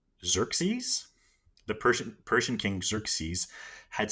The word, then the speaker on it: Xerxes: So the Persian king, I have the pronunciation here. It's Xerxes, the Persian king Xerxes, had sent an envoy to Sparta asking for earth and water.